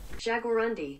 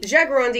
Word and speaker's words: jaguarundi: I gotta see how that's pronounced jaguarundi this includes the Puma the cheetah and the jaguarundi jagarundi is a smaller Wildcat native to Central and